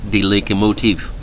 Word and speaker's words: De Locomotief: 1948, he told the story to a Dutch-Indonesian newspaper called De Locomotief. It means the locomotive, but it sounds like motif.